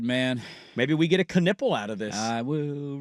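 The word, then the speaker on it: Knueppel: You see it and you don't say Knipple. That's how you spell it, It's really? it's a K-U-N or K-N-U, I think U-E-P-P. That makes no sense. Knipple.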